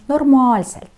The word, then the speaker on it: normaalselt: Удваиваем. Гласную двойную, две А, да. Normaalselt.